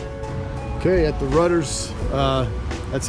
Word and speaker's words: Rutter's: ] okay at the rudders that's how you pronounce it rudder is like a boat rudder yeah on first taste